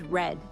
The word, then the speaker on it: read: In certain tenses, the word read is pronounced differently. In present perfect, past simple, past perfect, future perfect, and conditional perfect. The word read has the same spelling but is pronounced as red, like the color.